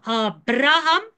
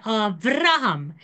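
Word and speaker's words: אברהם: And the bait can also be pronounced as a V. I'll give you an example of Abraham. You can say Avraham. The bait and the fate basically is the same letter in the Hebrew. You can pronounce it B or V depending on a couple of things.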